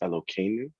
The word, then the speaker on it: Eloheinu: for Shacharit, and I noticed this one rabbi kept on pronouncing Eloheinu as Elokeinu, like the hey Okay. is pronounced as a K.